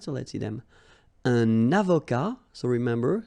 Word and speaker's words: avocat: Un avocat, so remember, liaison here and then final T not pronounced, okay?